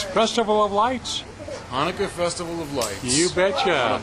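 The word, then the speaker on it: Chanukah: It is, what is Chanaka's Festival of Lights? Hanukkah Festival of Lights. You betcha. Beautiful Oh, day. yes, the C is silent, isn't it?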